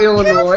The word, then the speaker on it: Illinois: didn't say anything about illinois freaking didn't do the silent s what the [ __